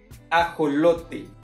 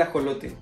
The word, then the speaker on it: ajolote: Fait que ça s'appelle ajolote. Ça s'appelle ajolote. C'est comme ça qu'on le prononce en espagnol là.